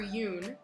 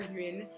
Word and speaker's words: Yun: first instinct was right avatar yoon not avatar hyun and then i was